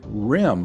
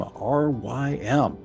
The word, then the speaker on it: Rym: This is, I think it's pronounced Rym, R-Y-M, an unusual first name and the only person with that first name who has registered.